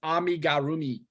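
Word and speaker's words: amigurumi: church which is amazing um Debbie said it's pronounced amigarumi amigarumi um um and then Natasha said my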